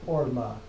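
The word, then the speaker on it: ערמה: That's a short O there. Orma.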